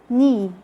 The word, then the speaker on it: knee: is quite easy letter k is silent when it comes at the beginning of a word followed by an n like when you say knee knock knob no knight which